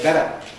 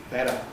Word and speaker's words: better: They say better better.